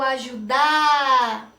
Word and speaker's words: ajuda: Eu falo ajuda, ajuda ou ajudar. Pensaram? Eu falo ajuda. Então, o ju é a sílaba tônica.